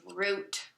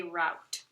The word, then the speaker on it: route: Okay, so the fourth word that we're going to preview is route or route. It depends on how you say it. I say route.